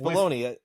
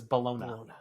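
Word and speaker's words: bologna: so it's weird uh but it's balone I've always called it balone I think that's anybody out there who actually says balona I don't know why it was spelled with an A but I was questioning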